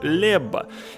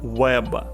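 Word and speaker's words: Łeba: Вы слышите, как я правильно произношу сейчас название города? Потому что в том самом фильме я называл его Лебба. И мне 150.000 комментаторов напихали за то, что я неправильно произношу, как же я могу быть таким презренным человеком, чтобы так себя вести. Поэтому я исправляюсь и, сделав работу над ошибками, сейчас правильно произношу название прекрасного польского города Веb.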